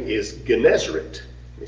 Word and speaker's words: Gennesaret: Another name is Gennesaret. Let me spell that for you.